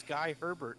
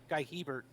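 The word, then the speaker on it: Guy Hébert: um uh guiller bear who he just adopted a new pronunciation of his name because when he was coming up it was guy herbert i mean guy guy hebert and um i don't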